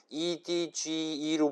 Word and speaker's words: edge: 그래서 요 E는 그 헤드샷 할 때 헤드 있잖아요. 그 에를 발음하시면 됩니다.